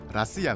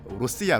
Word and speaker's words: 러시아: 어 우리나라에서는 이제 그 러시아라면 가장 정확한 발음은 라시아 든요 그 북한 사람들은 러시아라는 표현을 안 써요 로시아 로시아 이렇게 하거든요이 그 포로라는 사람이 말을